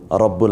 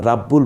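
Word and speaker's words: رَبُّ: একক উচ্চারিত যেমন খলিদিন সমাদ রাব্বুল আলামন রাব্বুল বলছি না রব্বুল বলছি ত র এর উপর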